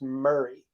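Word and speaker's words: Maury: it so in this case Mari m-a-u-r-y is pronounced Murray kind of like there's a city here in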